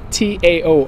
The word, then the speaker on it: Tao: And Taoism really is the study of the Tao, T-A-O, or the Tao as it's sometimes pronounced.